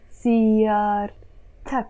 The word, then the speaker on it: سيارتك: But what happens is that the moment I attach a possessive ending to it, like here, أك, we have to pronounce this T. We can't say سيارة أك. No, we have to say سيارتك.